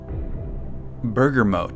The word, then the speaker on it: bergamot: fragrances save to those burger mode that's the way that we should pronounce it burger mode katie goes